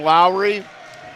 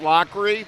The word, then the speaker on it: Lockery: We called him Lowry, and it is pronounced Lockery, and we appreciate the clarification on that.